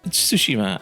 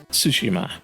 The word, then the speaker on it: Tsushima: and that's those of Tsushima and that's how you pronounce it by the way in Japanese you don't really tend to emphasize any particular syllable so it's ghost of Tsushima and it's set in